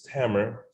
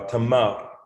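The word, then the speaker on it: Tamer: um so for example my name is tammer uh which uh some would consider to be the egyptian pronunciation and the actual term is like like uh tamar or the day giver somebody who gives fruit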